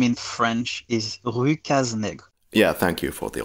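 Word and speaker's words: Rue Cases-Nègres: Yeah, the original name in French is Rue Cazenègre. Yeah, thank you for the authentic pronunciation for this podcast.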